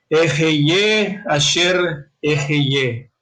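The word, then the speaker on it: אֶהְיֶה אֲשֶׁר אֶהְיֶה: Y le dice, y dijo Elohim a Moshe, Ejeye asher ejeye.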